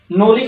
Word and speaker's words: knowledge: कहां से क्या होगा, के बाद जब भी एन आएगा तो के साइलेंट रहेगा, नॉलेज होगा, कनॉलेज नहीं होगा, नो कनो नहीं होगा, नाइफ होता है कनाइफ नहीं होता।